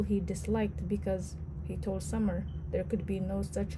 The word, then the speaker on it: Sammar: Do you pronounce it like the season summer? Rae asked the first time she had met him. Yes, but it does not have the same meaning.